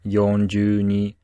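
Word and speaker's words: 四十二: used to say numbers like 63 which is pronounced rokuju Sun 42 or yonjuni and 13 or foreign you should try to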